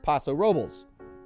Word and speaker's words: Paso Robles: Paso Robles California and for the record it's Paso Robles rhymes with ovals oh this one's pretty